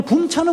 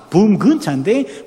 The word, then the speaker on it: 차범근: 이 친구들이 독일식으로 붐근차인데 붐근차 발음을 못해요. 제 이름도 항상 윤혜야 그래요. 내가 준희차 아무리 가르쳐줘도 윤혜야 그러니 붐근차 발음이 안 되니까 붐차 이러는 거예요.